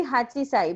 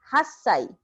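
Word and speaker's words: 八歳: So according to pattern, it should be hachisai, but it is an exception. So 8 years old is pronounced as hassai.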